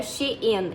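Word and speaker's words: Shein: Nessa época também eu fiz um vídeo pro TikTok que assim bombou, que era sobre a Shen, que eu falei que a pronúncia estava errada, que era She in.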